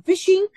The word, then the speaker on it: phishing: Malware types including phishing, adware, spam, and ransomware would be discussed here. Stay tuned. This term, phishing, is pronounced like the word F-I-S-H-I-N-G.